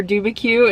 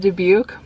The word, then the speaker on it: Dubuque: them wrong, like Makokita instead of Makokita, or Dubuque instead of Dubuque.